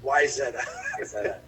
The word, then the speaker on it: Wayzata: here and here's uh wayzata wayzata is a why zetta i'll give you the local the local pronunciation it's why is that and basically like the